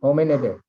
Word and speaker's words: Hominidae: How do you pronounce it? Okay. Hominidae.